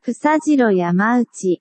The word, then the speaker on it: Fusajiro Yamauchi: Fusajiro Yamauchi.